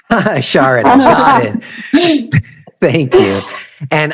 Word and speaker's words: Sharada: Sharada. Kind of rhymes with, you could say Florida or Chardonnay. Sharada, got it.